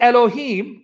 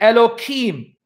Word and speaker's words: Elohim: They mispronounce it deliberately, Elohim. Why? Because they don't want to sin and take God's name in vain. That's how extreme the rabbis have become. They don't say Elohim when you're talking to them. They'll say Elohim. They will deliberately mispronounce the names of God because they don't want to sin by taking God's name in vain. So they'll say Hashem, the name. And they'll say Elohim instead of Elohim.